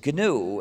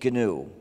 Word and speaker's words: GNU: new anymore but it still is gnu and will always be gnu the other erroneous pronunciation that you've probably heard that you should avoid using sounds like linux it's amazing but most